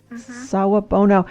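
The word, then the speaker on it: Sawubona: it's it's Saab Bono is that how it's pronounced yes Saab Bono I read also that there was a response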